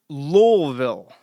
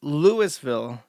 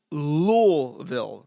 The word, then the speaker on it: Louisville: Lolville. You might think it's Lewisville. You might think it's even Louisville. Lulville. There is a secret hidden L in that word that you must pronounce otherwise you out yourself